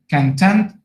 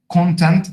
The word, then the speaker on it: content: So, pay attention to pronunciation, to stress, part of speech. We have just said that the part of speech has to do with meaning. So, content, adjective, content, a noun.